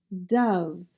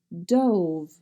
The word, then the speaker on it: dove: Bust, tough, tough, dove, dove, and this word has a second pronunciation of dove, dove, and the last word, enough, enough.